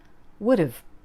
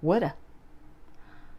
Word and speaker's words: would've: would have which is spelled similarly and pronounced would've or woulda I would have been